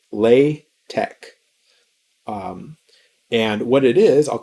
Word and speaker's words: LaTeX: the word latex so it's pronounced with a k lay tech and what it is